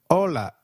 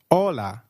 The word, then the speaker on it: hola: or hi is called hola in Spanish can you try that please hola did you get that right hola remember H is always silent in Spanish we do not pronounce it let me give you